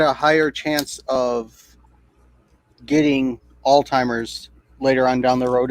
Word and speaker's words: Alzheimer's: Alzheimer's. The memory loss bullshit. Yeah, it's Alzheimer's. That's what I said. There's no D. It's Alzheimer's. Alzheimer's. It sounds like you're pronouncing a D in there.